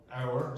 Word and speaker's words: hour: Hour. So what is not pronounced? H. H. Exactly.